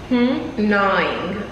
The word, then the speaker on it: gnawing: Gnawing. Or gnawing. Gnawing. If you don't know how to say the word, don't give it to me. No, it's gnawing. I'm sure that G is silent.